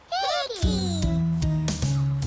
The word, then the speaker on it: heki: Heki. Can you tell me the sound the word begins with? Heki. Huh. Kāpai. Heh. Now try sounding out the word heki. Heki. Huh. E.